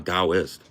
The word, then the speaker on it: Daoist: Thank you for pronouncing "I'm a Daoist." If you're a If you're going to claim to be a Daoist, at least you know how to say the word, right?